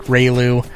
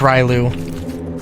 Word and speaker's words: Ryu: I paused was because Ryu could be pronounced Ru if you wanted to. Um there are there are places that um or cultures or languages that would pronounce it RLu. Um it's Ryu and I needed to keep